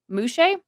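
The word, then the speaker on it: muxes: something similar in mexico um it um it's pronounced um muche but it's spelled mu xes so um those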